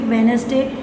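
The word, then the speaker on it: Wednesday: Silent D, आप देखो डी इज़ not pronounced in the following common words. Simple words हैं, handkerchief, वेडनेसडे, daily routine के words हैं आपके।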